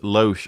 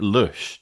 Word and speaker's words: Lösch: seven hosted by i i've been calling garrett lo garrett loch all these years but i i guess it should be pronounced garrett lush due to the umlauts i'm gonna stick with